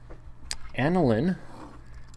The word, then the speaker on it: aniline: Aniline, this is pronounced aniline, not aniline. I know there's an E on the end, but nevertheless people pronounce this as aniline, has an amino group on the end, attached to the ring.